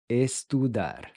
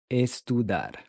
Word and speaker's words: estudar: Estudar. Estudar. Estudar. Estudar to study. When you pronounce the T and D, your tongue should press against the back side of the front teeth. Tu, dar. Estudar.